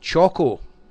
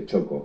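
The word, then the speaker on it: txoko: from gica and your friends you own a Choco and it is spelled TX o KO o and this is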